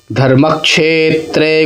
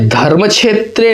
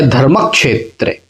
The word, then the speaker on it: धर्मक्षेत्रे: प्रथम अध्याय है यहाँ पर, और पहला जो श्लोक है वो है, धर्मक्षेत्रे कुरुक्षेत्रे समवेता युयुत्सवः मामकाः पांडवाश्चैव किमकुर्वत संजय। ये धर्म क्षेत्रे नहीं है, यह धर्मक्षेत्रे है ना, उच्चारण इसका होगा धर्मक्षेत्रे।